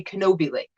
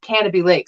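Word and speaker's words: Canobie Lake: it's called canopy lake if anybody else sees the way it's spelled they say kenobi lake but it's pronounced canopy lake so i can't get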